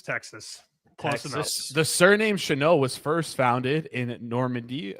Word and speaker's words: Shenault: The surname Shenault was first founded in Normandy. It's Dutch. Sorry, that's why it's Dutch. It's not French. My bad. It's Dutch, but it is pronounced Shenault.